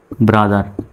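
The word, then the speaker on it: brother: র জন্য আর তাহলে বি আর ও এমনিতে যদি কোথাও এইভাবে লেখা থাকে বি আর ও তাহলে এর উচ্চারণটা হবে ব্রো এরকম হবে ব্রো কিন্তু এখানে হলো ব্রা এইচ ই আর দার ব্রাদার এখানে আবার বি আর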